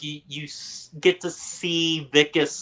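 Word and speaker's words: Wikus: Is it Wicas or is it Wilas? Vicus. You pronounce the W like a V.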